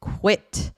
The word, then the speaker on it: quit: Quit one syllable and it rhymes with words like sit or hit.